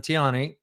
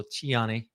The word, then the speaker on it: Tiani: the top General abdrahman Tiani he knows also chiani that's how they pronounce it chiani or Tiani either or uh he's the one